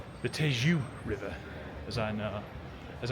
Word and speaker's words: Tejo: Or should I actually say the Tejo River, as I know as I now know how to correctly pronounce it in Portuguese.